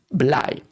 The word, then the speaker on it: Blei: And also it's again an E and an I, so I. That's how you pronounce Blei.